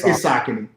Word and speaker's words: Saucony: I thought it was Saucony. Yes, it's Saucony. It's Saucony.